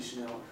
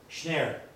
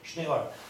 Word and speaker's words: Shneur: It's not that important, but is Shnir Yiddish? No, it's corrupted. It's Hebrew, but the pronunciation is corrupted by Yiddishization. It's Shnei Or. So it's actually Shneur. It's Shnei actually Or. spelled that way? Yes, but not with a break. It's spelled as one right. word.